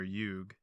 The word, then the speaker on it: yuga: So that's another thing about Sanskrit is they always usually end with an A, but like when you pronounce it, you're supposed to just like cut it. You can say yuga. Like pranayama. You're supposed to say pranayam. You can say both. Okay. Both are accepted.